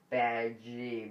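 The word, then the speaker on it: Badguy: named Dominic bad guy Dominic bad guy pronounced badgie but still a bad guy I'm played by Ricky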